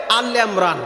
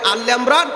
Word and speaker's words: আলি ইমরান: যেমন সূরায়ে আল ইমরান, কেউ যদি বলে সূরায়ে আল ইমরান, এটা আল ইমরান বলা ভুল হবে।